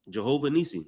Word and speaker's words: Jehovah Nissi: How you want me to pronounce it? Jehovah Nissi.